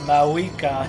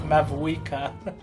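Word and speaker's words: Mavuika: still throws me off that her name is MAA not like mava you don't pronounce the V I don't think okay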